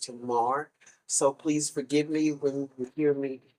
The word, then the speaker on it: Tamar: mispronounce her name and I realize now it is pronounced Tomar so please forgive me